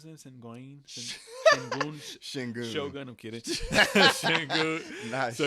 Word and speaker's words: Şengün: How do you pronounce that? Sengun? Shingun.